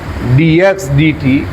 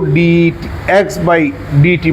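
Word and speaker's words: dx/dt: যেটাকে আমরা মুখ দিয়ে উচ্চারণ করব ডি এক্স ডিটি এটাকে ডি এক্স ডিটি অথবা ডিডিটি অফ এক্স এভাবে বলতে হবে কখনো ডি এক্স বাই ডিটি বলা যাবে না এটা ডিভাইডেড না এটা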